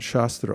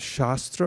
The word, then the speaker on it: shastra: when you say shastra it's just a short a rather than long a then what you're referring